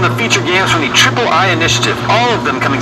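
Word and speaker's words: Triple-i: partnering with called the Ayayay Initiative. Yeah, I'm pretty sure it's pronounced triple I. You know, like AAA, but with I for indie.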